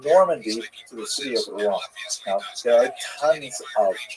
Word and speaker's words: Rouen: The original Latin name for Rouen was Rotomagus, and in the medieval period it was shortened to Rotom or Rodom.